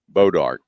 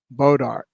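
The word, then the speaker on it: bois d'arc: Bodart. That's how you pronounce it. Just like you would pronounce Bclair. Same spelling. B O I S. And then how they spell how they pronounce it? Bodart and it's a piece of it's a wood.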